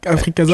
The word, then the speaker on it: Africaza: C'est Africaza ou Casa? Comment ça se prononce? Je me suis posé la question. Africaza.